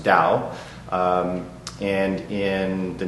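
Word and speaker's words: 道: or cloth clothing and the doe part is the same dough in Chinese it's pronounced Dao and in the name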